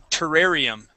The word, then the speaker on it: terrarium: out three words here this word is terrarium terrarium try that ter ter terrarium okay terrarium terrarium terrarium good okay um let's